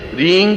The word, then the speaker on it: ह्रीं: उस ऐं ह्रीं क्लीं, देखिए अब आपकी इसकी उच्चारण ध्वनि, एंग, रींग, क्लींग। मैं ग की ध्वनि के साथ उसकी बात बता रहा हूं।